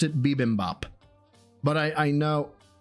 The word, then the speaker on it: bibimbap: I've always pronounced it bibimbap. But I know... Called it bobimbap?